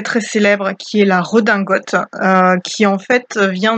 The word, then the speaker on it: redingote: qui en fait vient du terme anglais riding coat, donc c'est le manteau pour faire du cheval à l'origine, et quand ça traverse la Manche, nous en France on va le reprendre avec une prononciation à la française, et ça va devenir une redingote.